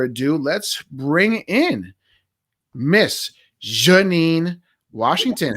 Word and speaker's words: Jheannine: Now let's hear, from the native tongue how it really is supposed to be pronounced. It is Jheannine.